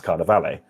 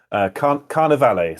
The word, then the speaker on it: Carnivale: I used to call it Carnival, and then an Italian friend said, "Stop doing that." So I now try to make myself say Carnivale.